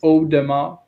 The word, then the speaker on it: Audemars: Aude is Mhm. Ode. It's like Audemars.